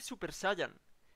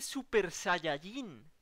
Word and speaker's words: Super Saiyajin: Que no se dice Super Saiyan. Que se dice Super Saiyajin.